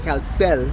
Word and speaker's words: Caucel: Caucel. Caucel.